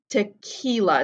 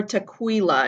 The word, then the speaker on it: tequila: explains this q-u-i sequence in english sometimes the q-u-i can be qua but in spanish it's always ka te kila it's never tequila it's there's never a kw sound here rule number five